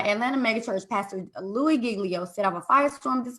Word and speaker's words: Giglio: pastor of passion city church and i cannot pronounce his name googly oh this is okay giglio yes giglio so um he had sat down